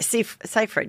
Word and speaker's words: Seyfried: Seyfried? Yeah, Seyfried, yeah.